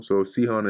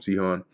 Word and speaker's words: Sihon: Cone or Sihon. Oh, interesting. It says here, let me see if they have another one here. With a long OS s this with the stress on the first syllable. Sohon is is all right.